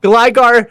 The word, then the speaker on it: Gligar: Yeah, Gligar is the right way to say it.